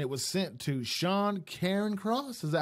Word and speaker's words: Cairncross: Obtained a copy and concealed agreement detailing the fine, and it was sent to Sean Cairncross.